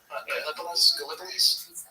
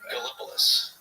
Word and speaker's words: Gallipolis: Gallipolis? How do you say it? Gallipolis, I would say. I should have. Gallipolis. It's not Gallipolis. It's Gallipolis.